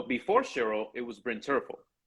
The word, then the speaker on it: Terfel: So before Cheryl, it was Bryn Terfel, right? Or Hmm. Tervel, as he likes to say it's pronounced.